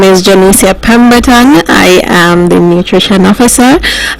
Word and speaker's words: Janicia Pemberton: Unit, a young lady by the name of Janicia Pemberton. Did I get the pronunciation correct? Janicia Pemberton.